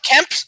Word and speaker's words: Kemp: I was looking for Kemp rhymes with hemp.